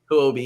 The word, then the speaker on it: Huobi: I think it's wrong that Hubio, or I don't know how to pronounce that exchange, was selling IOUs. We'll say it again. Huobi, yeah.